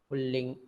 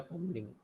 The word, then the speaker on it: पुल्लिंग: पुल्लिंग या पुंलिंग, इसे दो तरह से उच्चारण करते हैं.